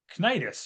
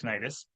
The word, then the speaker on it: Cnidus: Myra over to Crete, just to the Cnidus, or I think it's pronounced Cnidus.